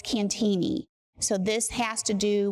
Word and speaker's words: Cantigny: Well, first of all, the correct pronunciation is Cantigny. I was saying it in Italian. Well, everybody says Cantigny and Cantig and Cantigny, including myself, until I learned it's French. So, it's Cantigny.